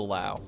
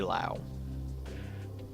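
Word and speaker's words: Löwe: All right, so this is the Lowe or Lowe, however you want to pronounce it. I say Lowe.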